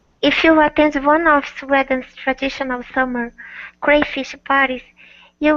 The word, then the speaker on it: Sweden: So this particular country name in English has a long E sound, pronounced Sweden and Swedish.